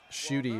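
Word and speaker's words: Ncuti: Shooty is how it's pronounced.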